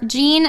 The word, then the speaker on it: Jean: J A D Y N C Jean is spelled like jeans you're wearing.